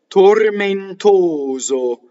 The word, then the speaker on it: tormentoso: Tormentoso. Now, the oso ending is closed. All of these words, all of these syllables are unstressed. Thus, all of the vowels are closed, right?